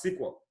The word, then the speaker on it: SQL: language that was simple stands for and it's pronounced as sequel I wanted to get used to the pronunciation